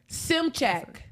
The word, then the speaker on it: Szymczak: Is it Szymczak. Szymczak. Oh, Szymczak. Just like it's spelled, super easy. Szymczak. Correct.